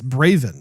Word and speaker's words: Braven: this this title but it's Bravin not brazen did I say brazen early on I probably did if I did I apologize it's it's Bravin it's a V anyway it stars Jason